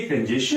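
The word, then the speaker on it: congestion: बट किंतु ये कंजेशन नहीं है. इसके भी लास्ट में STION है, तो इसका भी जो प्रोनाउंसिएशन है कंजेशन. कंजेशन. ध्यान से देखें, स्चन. लास्ट में स्चन साउंड आएगा, तो इसे हम क्या पढ़ेंगे?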